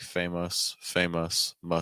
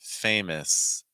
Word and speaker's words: famous: So, a lot of times there are English learners out there who are pronouncing this like famous, muss. When in reality, when you actually listen to native speakers, probably a more frequent way you're going to hear this pronounced would be more famous, famous. And to get this short